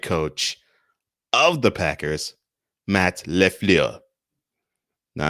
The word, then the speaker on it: LaFleur: of the packers matt lefleur now i don't say your name as an insult i'm saying your name because that is how your name is pronounced sir going the analytic